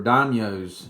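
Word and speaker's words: daimyo: the way they were set up they were dinos you'll see that word that's how you say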